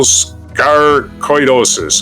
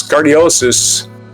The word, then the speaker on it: sarcoidosis: Well, it's cardiosis. Sarcoidosis.